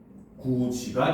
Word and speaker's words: 굳이: 자, 내용을 여기다 정리를 하게 되면은 자, 굳이 같은 경우는 굳다 더하기 그렇죠? 얘도 접사죠. 자, 그래서 이것이 굿이가 되는데 발음을 하면 구지가 된다는 거죠.